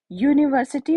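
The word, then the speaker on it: university: क्यों होगा, क्योंकि यू की साउंड यहाँ पे हमें या से यू आ रही है, यानी वाई से हमें साउंड आ रही है, तो ये हमारा कॉन्सोनेंट है, ठीक है।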